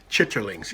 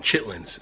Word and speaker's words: chitterlings: Chitterlings. Yes, I pronounced it the right way, but most people call them chitlins, and we don't even talk about that.